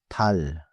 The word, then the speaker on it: 달: The moon is 달. One syllable, 달.